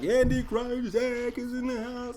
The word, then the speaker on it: Krycek: Krycek, yeah.